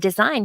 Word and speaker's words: design: There is a morphological reason why the words sign and design have that silent G in there. And we can see that when we look at other words like signal and signature.